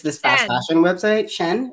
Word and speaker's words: Shein: Shen, is that how you say it? Yeah.